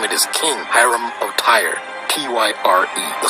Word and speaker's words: Tyre: King Hiram of attire tire that is e-y-r-e pronounced by Americans Tyree as in Tyree Nichols who was beaten